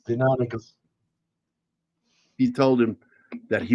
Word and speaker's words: Deinonychus: Well, being pedantic at all, the correct word is Deinonychus because it's Latin and the Y doesn't sound like in English.